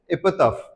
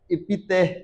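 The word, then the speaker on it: epitaph: इसका pronunciation is very important, याद रखना। The pronunciation is एपिटाफ। ठीक है, इपितेह या ऐसा कुछ नहीं होगा। ठीक है, आप जैसे ही प्रोनाउंस करना चाहते हो तो ऐसा नहीं होगा, दैट इज एपिटाफ।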